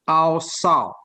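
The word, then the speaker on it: עשה: yang dari bahasa Ibrani yang berbunyi awsal. A-W-S-A-W tulisannya. Awsal.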